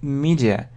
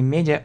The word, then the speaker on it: media: Есть такое слово, как media. Обратите внимание на произношение не media, а media.